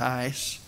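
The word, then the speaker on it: εἰς: The Greek word is pronounced ace, sometimes people pronounce it sounding like ice, epsilon iota sigma.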